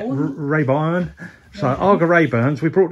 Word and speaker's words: Rayburn: But the good thing about Arga Rayburn, Rayburn, say it right, Rayburn.